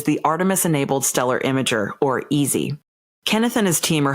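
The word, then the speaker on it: AESI: We use EASY, although it's not really an easy project, but that's the way the letters worked out, so we're stuck with it.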